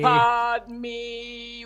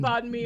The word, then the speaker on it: Padme: Oh, money, Padme wallet. Money. What's the middle part? Money, Padme, and it is spelled like this, like the Sanskrit. P-A-D. The Irish pronounce it pad, and then it's M-E. Padme.